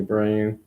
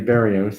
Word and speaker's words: Barrios: Valdez, Corbin Burns, Sonny Gray, Zach Greinke, Jose Barreu. Not Abreu, Jose Barrios. Sorry, I mispronounced his name.